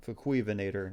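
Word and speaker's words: Fukuivenator: uh uh Fator what Fu venator that's that's how I pronounce f like you know fi it's fui prefecture in Japan which is funny a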